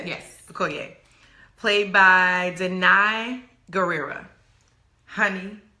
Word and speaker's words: Okoye: Okoye.